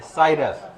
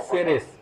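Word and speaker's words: Ceres: उसको भी हम लोग क्या कह देते हैं? साइरस। ठीक है? लेकिन ये है सेरेस।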